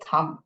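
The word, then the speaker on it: thumb: W यहाँ पे silent है, यहाँ पे L साइलेंट है, यहाँ पे B साइलेंट है. सो ये पाम है, ये रिस्ट है और ये थम, थम, थम.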